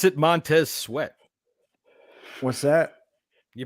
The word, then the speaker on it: Montez Sweat: You pronounce it Montez Sweat.